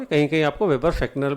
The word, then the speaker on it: Fechner: ये ध्यान रखिए, ये फेक्नर है, फेचनर नहीं है. प्रोनाउंसिएशन करेक्ट है, फेक्नर.